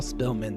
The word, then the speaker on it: Spillman: As the president of the Historical Society, the S is silent, of all Spillman, the S is silent, it is my job to preserve the history and greatness of this good town.